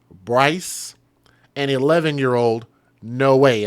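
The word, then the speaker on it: Noe: and 11 year old no way and I think that's how you pronounce it n-o-e no way which are the names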